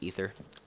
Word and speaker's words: Aether: And I I am going to call it Aether from now on because that's what the mod creators call it. Even though the word a um ae t is spel is pronounced ether.